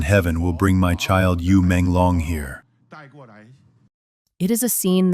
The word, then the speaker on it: Yu Menglong: In Chinese, U is pronounced the same as fish and long is as dragon.